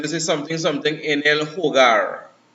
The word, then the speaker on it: hogar: No, so say for instance, you say, right, so say for instance, this is something en el hogar. Now the H is silent in Spanish. H-O-G-A-R is the home, right?